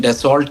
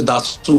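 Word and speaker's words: Dassault: तरह आपने कहा उसको वैसे तो अंग्रेजी में डेसोल्ट कहते हैं जो स्पेलिंग्स है उसके लेकिन असल में फ्रेंच में उसे दासू कहते हैं तो उनके वक्त को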